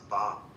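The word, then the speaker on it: phở: You calling it fo, but it's actually pronounced pop.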